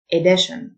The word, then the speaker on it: edition: disappoint نسخة أو طبعة edition، T-I-O-N تنطق شن edition، يمد أو يمتد extend،